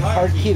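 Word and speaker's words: Hartke: I Heart can't key, pronounce baby. It. Heart key. There you Marshall. Go. Thank you. Heart key.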